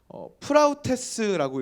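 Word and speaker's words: πραΰτης: 성경은 온유를 뭐라고 말하고 있냐면 헬라어 원어로 보면요, 프라우테스라고 읽습니다.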